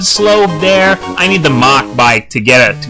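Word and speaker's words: Mach: ridden in last time I tried to pronounce that word mock to tell me that I mispronounced it I said Mac back then because well that's how you pronounce it in French but I when I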